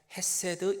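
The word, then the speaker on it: חסד: 여기 인자하심이라는 단어가 나오는데 이 인자하심이라는 단어는 히브리어 원어로 보면 헤세드 이렇게 발음합니다.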